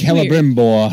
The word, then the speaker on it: Celebrimbor: It's Celebrimbor.